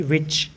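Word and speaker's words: which: डब्लू एच जो है वो व की तरह भी यूज होता है, जैसे कि विच।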